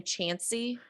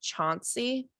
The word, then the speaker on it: Chancy: and family pronounced it chauncey oh how was it spelled c h c-h-a-n-c-y yeah that would be and i guess you could do chauncey just without the u yeah so i'm probably